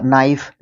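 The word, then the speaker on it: knife: okay उसके बाद है नॉलेज यह भी उसी का नाइफ इसी के एग्जांपल्स है ये के के बाद जब एन आएगा तो वो क्या रहेगा साइलेंट रहेगा के ठीक है उसके बाद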